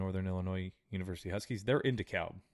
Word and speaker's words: Illinois: here but Illinois yeah Illinois or or the Essex s is silent pal uh but no